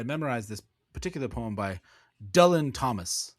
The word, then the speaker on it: Dylan: this particular poem by Dylan Thomas, which is actually the Welsh way of how you pronounce his name.